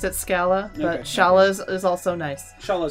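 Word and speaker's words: Schala: to be similar as R and L are interchangeable in Japanese so Sarah becomes solid sha like shallow so sha mashaallah let's let's go with shala I always pronounce it scala shallows is also nice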